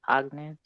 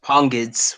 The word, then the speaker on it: Pongids: Pognids? Pognids. Hello? It's Pongids. It's Pongids. Pongids.